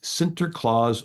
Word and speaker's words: Sinterklaas: The Dutch pronunciation of St. Nicholas is Sinterklaas or Sant Niklaas.